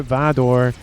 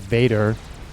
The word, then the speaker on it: Vador: T2 cruiser missile nonsense spam is online for Vador. Again, I'm trying to say his name like that instead of Vader, because I could easily say it like that, but it is with an O and not an E.